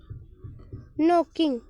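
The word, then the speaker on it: knock: जैसे someone someone is नोकिंग। नोकिंग मतलब खटखटाना। नोक। ये क्या साइलेंट रहता है?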